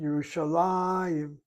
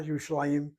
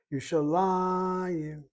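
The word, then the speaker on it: ירושלים: The accent is Yishalayim, not Yishlayim, Yishalayim.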